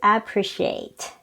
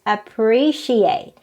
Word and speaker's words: appreciate: next word is appreciate most people pronounce this as appreciate they stress on the first syllable but actually the right pronunciation is appreciate it's on the second syllable so we have to stress the second syllable appreciate next word it is